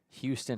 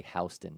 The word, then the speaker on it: Houston: Beasley, another Houston High School, Tennessee, 2029. One gets away from Mosier. I would love to know why in Georgia do we say Houston instead of Houston?